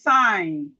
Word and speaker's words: sign: When we have G and N, the G is silent.